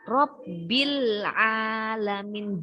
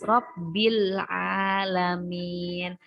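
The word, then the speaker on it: رَبِّ الْعَالَمِينَ: Huruf ain ini adalah, coba kita cari mana. Nah, ain ada di huruf alif lam komariah. Maka di sini terbacanya Robbil alamin, jelas ya. Lamnya ini terbaca jelas. Robbil alamin. Karena dia alif lamnya bertemu dengan ain, maka lamnya dia terbaca jelas ya. Alif lam komariah yang dibaca jelas karena dia bertemu dengan ain.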